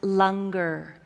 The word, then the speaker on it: langar: be fed with the Lunger and for all of you it's spelled langar but it's pronounced longer so after the service